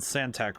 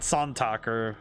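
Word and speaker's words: Santak: requires the narokath and santac runes okay that very that's a very American pronunciation santac not sontalker you know if it's on talk or anything like that no it's santac wide enough to insert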